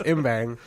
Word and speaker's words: Ymbang: my last name yeah so it's imbang but the Y is pronounced like the Y in my first name anyway I'm I'm